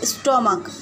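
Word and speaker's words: stomach: for example, जैसे स्टोमक, अब इसके लास्ट में लगा है सी एच,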